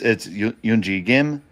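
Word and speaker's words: Eun-ji Gim: It's Yoonji Gim, Minji Kim, Suji Kim, and Okay.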